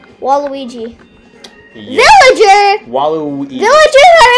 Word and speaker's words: Waluigi: How do you say it? Walugi? Walugi? Waluigi.